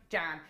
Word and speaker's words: Jan: Jan. It rhymes with ham.